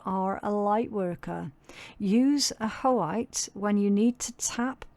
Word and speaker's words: ajoite: Uh ajoite pronounced ah-ho-ite. Oh, okay. Ah-ho-ite. That doesn't look like it, does it? But yeah, apparently ah-ho-ite.